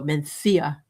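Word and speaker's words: Mencía: It's spelled M- N C I A, but you go Menthia.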